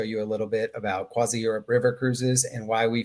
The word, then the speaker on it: CroisiEurope: with, tell me if I'm saying it right, CroisiEurope? CroisiEurope, yes.